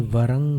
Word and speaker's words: वरं: मन्ये वरं हरिहरादय एव दृष्टा रंहरि। संहार में जैसे उच्चारण होता है अनुस्वार का, वैसे मन्ये वरं हरिहरादय एव दृष्टा। वरम में अनुस्वार है और उसके पश्चात हरि का ह है।